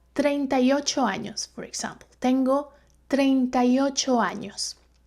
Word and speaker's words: años: And also, this could be a new letter for you, and it is called ñ. And it's pronounced ñ. Años. Tengo 38 años, for example.